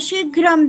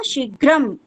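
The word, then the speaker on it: शीघ्रम्: ध्यान दातम अनुस्वार अस अनुस्वार अत्र दृश्यते वस्तुतः हल अस्त अतः तस उच्चारणम भवेत शीघ्र केवलम न अशुद्ध अस्त शीघ्र नहीं होता है उसमें क्या करना पड़ेगा शीघ्रम लिखना पड़ेगा ठीक है बोलना पड़ेगा क्योंकि यहां पर लिखने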